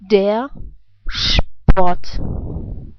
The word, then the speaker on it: der Sport: You know, the first R is pronounced like a reduced R sound.